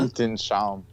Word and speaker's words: Weltanschauung: Am I pronouncing that correctly in the German there, Brendan? Worldview? Whether I am or not. Weltanschauung.